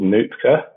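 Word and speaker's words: Nuitka: Amazing one that we've used is this package called Nutka, which is spelled N-U-I-T-K-A.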